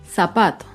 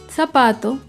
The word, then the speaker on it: zapato: Un ejemplo de palabra grave sin tilde es la palabra zapato. Zapato se acentúa en la penúltima sílaba, pero no lleva tilde porque termina en vocal.